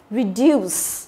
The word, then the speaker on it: reduce: Tiếp theo chúng ta có reduce. Đó, reduce. Nhớ là cái ngữ điệu của nó là ngữ điệu delay đúng không? Reduce. Ok. Đấy thì trọng âm của nó rơi vào âm thứ hai.